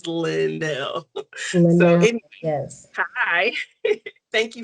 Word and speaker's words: Lynelle: So it gives the space so people pronounce it right. Because sometimes people are like line is not line, it's Lindel.